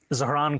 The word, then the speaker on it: Zohran: I'm running against a man named Zoran Mandami. He's a socialist. If you can respond to that and tell us how you say it, your full name. Zohran Kwame Mamdani.